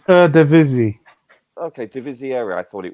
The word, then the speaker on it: Eredivisie: The correct pronunciation is Eredivisie.